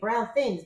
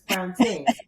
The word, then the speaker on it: Brown Tings: I was going to say Brown Things, but it's Brown Tings, correct? Well, first off, thank you so much for pronouncing it correctly because it is Ting. So I don't know how much you know about the islands, but in the islands they kind of drop off the H, and instead of saying Bing, they say Ting.